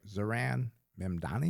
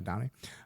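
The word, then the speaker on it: Zohran Mamdani: Zaran Mdani. Is that how you say it? There's Z Ron Manni. Sorry Madani.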